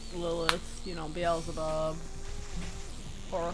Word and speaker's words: Beelzebub: like lilith you know beelzebub or how people sometimes pronounce it bezel bub that drives me insane it drives me insane